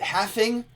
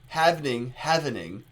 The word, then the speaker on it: havening: Is it halving, havening? How do you say havening? No L. HAVENING. Yeah, I saw your comment having. I can't say it without the L.